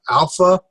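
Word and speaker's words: ἄλφα: We have alpha, which is pronounced as an a father.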